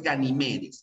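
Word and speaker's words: Ganimedes: de forma incorrecta aparece ganímedes pero no es ganíme decía es ganímedes es una palabra grave que termina en s por eso es que no se tilda es así es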